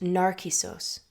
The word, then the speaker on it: Νάρκισσος: In Greek, Narcissus is pronounced Narcissos, and as a word, it shares the same root as the Greek word narcotic, narke, which means to numb.